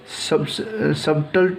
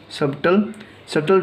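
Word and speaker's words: subtle: सबटल truth, सटल truth पढ़ते हैं, यहाँ पे बी साइलेंट है, तो सटल ट्रूथ मतलब होता है सूक्ष्म सत्य।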